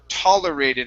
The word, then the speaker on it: tolerated: this is taller tolerated instead of taller it's tall tolerated okay one more time tolerated okay um it's it's still coming through a little bit mixed um and so i can't tell on that first vowel i'm trying to get an ah sound there one more time tolerated